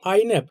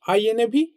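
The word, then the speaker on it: iNAV: যদি আপনি ইটিএফ এ যান তো আইন্যাভ, এটাকে আইএনএভি বা আইন্যাভ বলে উচ্চারণ করা হয়। আপনি যেমন ইচ্ছা সেভাবেই বলতে পারেন।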